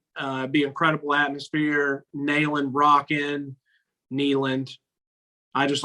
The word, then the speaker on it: Neyland: I don't know why I just say Nayland. Like, I just like it. That's why I didn't correct you. I was just like, yeah, whatever. If he wants to say it like that. I'll start. Hey, just so we don't piss anybody off, I'll start saying Neyland, but Neyland would be rocking.